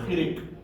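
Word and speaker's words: חיריק: Then your short E vowel is your chirik.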